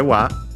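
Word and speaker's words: は: And then we have, of course, the topic particle wa, written as ha.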